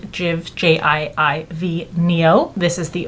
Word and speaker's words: JIIV: It's from the company, I believe you pronounce it Jiv, J-I-I-V, Neo.